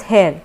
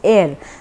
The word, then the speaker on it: heir: Similarly air के सामने भी HEIR, H is not, we don't pronounce it as hair, we say it as air, so that is why वहाँ पे आपको एन यूज़ करना है।